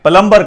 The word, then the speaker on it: plumber: बी जो है ये साइलेंट है, ये साकिन है, हमने इसमें बी जो है ये प्रोनाउंस नहीं करना।